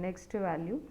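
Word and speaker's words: NEXTVAL: have current value and next value so actually we pronounce that current value and next value so but the syntax will be c r v a l Cur well and next Val well so these are the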